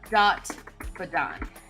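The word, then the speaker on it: Dhat-Badan: No, it's dot badon. Dot, right? That's how you spell it? It's DHAT. And then DHAT -BADAN.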